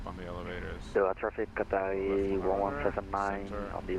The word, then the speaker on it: Qatari: Qatari.